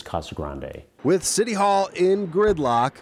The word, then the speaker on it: Casa Grande: in the town but the town is named after the ruins and it's pronounced with the Spanish accent museum director michael Shirota